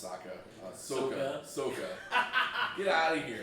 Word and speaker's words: Sokka: oh, how they pronounce Sokka? Soka.